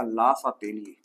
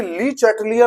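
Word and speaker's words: Le Chatelier: English में अगर आप इसको देखेंगे, इसके नाम को बोलेंगे तो बड़ा अलग सा नाम है, और नाम भी देखो अलग तरीके से लिए जाते हैं, प्रोनाउंसिएशन ही चेंज हो जाती है। देखिए ली चैटलियर के नाम से इंग्लिश वाले पढ़ते हैं हम, और हिंदी वाले जो पढ़ते हैं स्टूडेंट उसे लासा तेली पढ़ते हैं।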